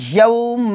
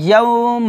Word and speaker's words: يَوْمَ: مِيقَاتًا তারপর يَوْمَ يَوْمَ يَوْمَ হবে না يَوْمَ হবে يَوْ يَوْ জিব্বার মধ্যখানে অবশ্যই উপরে তালুতে লাগাতে হবে তাহলে ইয়ার উচ্চারণটা ক্লিয়ার আসবে يَوْمَ ইউং হবে না